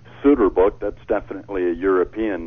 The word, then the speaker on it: Soeterboek: It's Soeterboek. Soeterboek. You guys were so close. You had it. Why don't you just spell it Soeterboek?